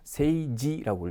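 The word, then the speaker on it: 政治: 세이지라고 읽죠. 그래서 이때 이 지자가 그죠? 찌가 아니라 지로 발음이 나는구나.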